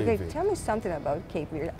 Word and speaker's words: Cape Verde: In the Portuguese, we say Cabo Verde. Cabo Verde. Cabo Verde. But in English, we say Cape Verde. Cape Verde. Okay, tell me something about Cape Verde.